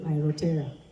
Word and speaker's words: Aotearoa: Is that how it's pronounced? Because now they've said New Zealand who? Aotearoa.